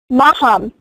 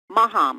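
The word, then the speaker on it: Mahum: Maham. It's spelled M-A-H-U-M. Maham.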